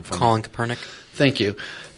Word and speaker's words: Kaepernick: Colin Kaepernick. Thank you. Kaepernick.